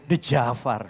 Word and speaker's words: Djaafar: Maka nama saya juga De Jafar saudara. Padahal nggak ada D-nya sebetulnya, tapi De Jafar ya. Jafar ya.